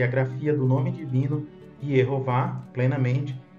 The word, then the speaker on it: Yehováh: caso, temos aqui o nome divino com o tetragrama e as vogais E, O e A, para se pronunciar em hebraico Yehová.